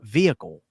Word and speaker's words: vehicle: Like they and I was like why you pronounce why you pronouncing the H? It's vehicle. It's like vehicle.